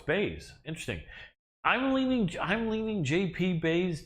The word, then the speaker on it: Buys: against the wall, and as his name looks like it's spelled, buys, I think he buys himself an additional UFC contract with the win here, even though his name is Bays, but it's spelled like buys.